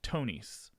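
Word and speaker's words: Thonis: at once to um tonys and uh this is a word that is spelled t-h-o-n uh but i was told it's pronounced tony's the tonys so it's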